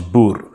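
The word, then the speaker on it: Boer: you are a a Bo or actually the correct pronunciation in Africans is Bo but because Africans has this nice little rolling R which you will probably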